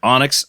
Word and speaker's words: Onyx: guests here uh from Onyx record pressing I'm pronouncing that right is it Onyx Onyx okay all capitals o n YX yeah and